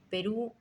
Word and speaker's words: Perú: Yo usaré de él sin ninguna diferencia, diciendo Perú y Pirú.